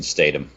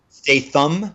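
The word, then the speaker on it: Statham: and that is Jason Statum o why are you pronouncing it that way I don't know how to say it pretty sure it's STM Stam yeah you know again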